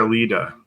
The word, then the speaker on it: Aleda: They called her Alida, so a little different. Aleda.